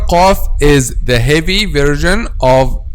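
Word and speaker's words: ق: Letter qaf is the heavy version of the letter kaf. So letter qaf and letter kaf, both of them are pronounced using the back part of the tongue or the deepest part of the tongue, okay? But al-qaf is deeper than al-kaf. Aq deeper is al-qaf, and then al-kaf ak.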